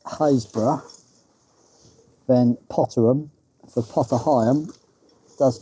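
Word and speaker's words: Happisburgh: Apparently the locals call it Potterum which is no surprise being in Norolk and you consider the lighthouse at Hapersburg is pronounced Hazbor then Potterum for Pottery does make a bit more sense.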